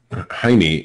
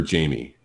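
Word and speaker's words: Jaime: Jackson got in trouble for saying ha town haime is his name oh or Jamie if you want to pronounce it the English way oh I just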